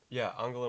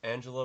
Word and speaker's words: Angela: t-bricks is dutch and it's angela with a soft g angela is it angela or angela i'll say angela no that doesn't ange angela merkel no that doesn't sound right that sounds too american angela merkel maybe welcome